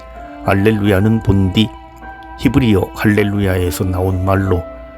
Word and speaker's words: 알렐루야: 해야 한다는 뜻이 두드러집니다 알렐루야를 할렐루야라고 또 발음하나요 전례에서는 미사 경본과 시간 절려서 성부의 또가 각기 직소에 나온 대로 알렐루야로 발음해야 합니다 알렐루야는 본디 히브리어 할렐루야에서 나온